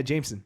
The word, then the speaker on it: JMSN: artists oh and uh his name is spelled jmsn jmsn JM Jameson yeah Jameson oh Jameson heard about